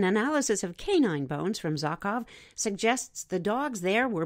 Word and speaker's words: Zhokhov: The hunter-gatherers of Zhukov Island, that's spelled Zhokhov, were a hardy folk.